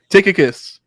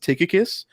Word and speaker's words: Tychicus: think it is pronounced tychicus um just like we see with um with a lot of other ch words at that time it was like it was like a k sound and so tychicus um it seems to